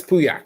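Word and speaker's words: Pauillac: And Lynch is Puak. Puyak is it? Yeah, it's Puyak. Puyak.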